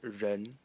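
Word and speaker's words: 人: we have this element over here which is pronounced ren and it is a person person.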